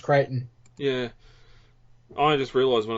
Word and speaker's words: Crichton: I've always heard it said Crichton, but the spelling of his surname is Crichton, isn't it? It is, but you're right, it is pronounced Crichton.